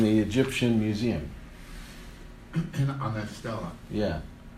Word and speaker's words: stela: On that stela. Yeah. Stella, that's how it's pronounced? Yeah.